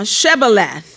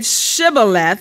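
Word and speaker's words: Shibboleth: Then said they unto him, say now, Shebaleth. And he said, Shebaleth, for he could not frame to pronounce it right.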